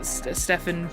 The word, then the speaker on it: Stefan: it's a good time my name's pronounced Stefan by the way it doesn't I don't care if people say Stefan Stephen doesn't matter to me um I changed my